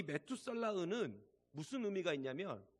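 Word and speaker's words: מתושלח: 이 무드셀라란 히브리어로 메투살라흐거든요. 좀 이름 발음하기도 힘들죠, 메투살라흐. 근데 이 메투살라흐는 무슨 의미가 있냐면 두 단어가 합해졌어요.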